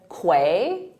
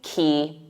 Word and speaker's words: quay: saw it I said quay quay but it isn't there's no qu sound in it it's simply key key like a key